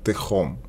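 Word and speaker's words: תהום: На иврите оно произносится как техом.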